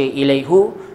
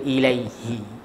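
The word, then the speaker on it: إليهِ: Kenapa baca ilaihi? Sebab sebelum dhamir ini ada huruf Ya mati, maka dibaca baris bawah. Kita tak baca ilaihu, tapi kita baca ilaihi.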